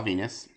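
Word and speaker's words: Venis: So, Val Venus, spelled like penis.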